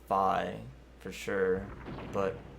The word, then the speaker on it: Fi: Uh, I personally pronounce it fee, but you can pronounce it however you want. The Japanese version, it's pronounced fi for sure.